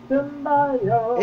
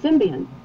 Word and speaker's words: symbiote: I pronounce see it symbiont, pretty much. Symbiont. Yeah. There's no N in there. It's symbiote. Yeah.